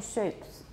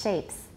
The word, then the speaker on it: shapes: pretty good shapes yeah don't round shapes too much watch a lot of you're saying shapes but it's shapes that's good some of